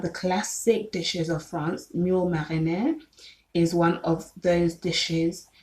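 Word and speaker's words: moules marinières: And then there is mule marinière, which is spelled MOULES space MARINIERES, and it looks like clams.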